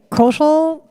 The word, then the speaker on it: Kaushal: By the way, Kaushal rhymes with social, and he's in charge of a social media marketing firm.